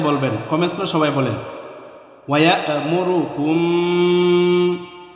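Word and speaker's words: ويأمركم: ওয়ায়ামুরুকুম, ওয়ায়া ইয়া হামজাকে ধরে হচ্ছে, হামজা শক্ত করে উচ্চারণ হবে। ওয়ায়ামুরুকুম, ওয়ায়ামুরু, কোনো টান নেই, কোনো টান হবে না।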